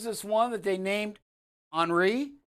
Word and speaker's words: Henri: one that they named henri right it's not henry folks it's h-n-h-e-n-r-i uh i had to listen to her to make sure she pronounces his henri so it is henri coming out here it